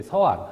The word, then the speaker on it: 서안: 시안이라고 했는데 뭐 시안, 중국어 발음으로 시안이고요. 그 다음에 보통 이제 서안, 한자 발음은 서안 그렇게 이야기를 하고 있습니다.